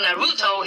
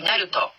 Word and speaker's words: Naruto: how to speak better i said that the oral sound doesn't exist in japanese so naruto is actually naruto many people were asking